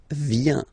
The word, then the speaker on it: viens: Final S not pronounced. Je viens. Remember, I-E-N, ien, ien.